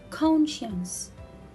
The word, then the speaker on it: conscience: letter c fluorescent and this word is conscience conscience again i will not read letter c here i will get rid of it and i will read the word without letter c conscience and here the